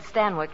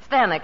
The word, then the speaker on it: Stanwyck: Well, that's how they said Stanwyck in England. Oh. Stanwyck, it rhymes with Zanuck.